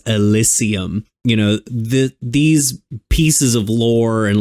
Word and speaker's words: Elysium: So this game, it takes place in a world called Elysium, or I guess Elysium if you want to pronounce it wrong like the people in the game do, which is sort of